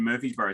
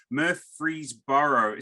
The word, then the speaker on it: Murfreesboro: And so my Murfreesboro, I can't say that to save my life. Murfreesboro. See, and they say it wrong because it's spelled differently.